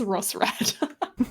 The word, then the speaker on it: Roserade: Hang on, you're saying the E is silent. Ross, both E's are silent, and it's Rossrad.